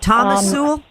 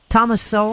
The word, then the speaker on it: Thomas Sowell: You talking about Thomas Sowell? Thomas Sowell? I mean, Thomas Sowell.